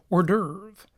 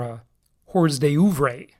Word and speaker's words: hors d'oeuvre: you just a little hors d'oeuvre or a day over a as it is spelled if you don't speak French all right so we'll